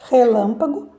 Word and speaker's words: relâmpago: Relâmpago então neste caso nesta palavra a sílaba mais forte é a sílaba Lan tá então relampagou Lan